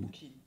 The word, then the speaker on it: Bookchin: mais que chez Bookchin, je ne sais pas comment on prononce Bookchin. Bookchin.